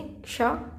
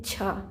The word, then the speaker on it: क्ष: जैसे इसको बहुत सारे लोग पढ़ते हैं छा, बट ये छा नहीं होता, ये होता हैक्षा।क्षा इसमें का और शा मिल के बनता है येक्षा।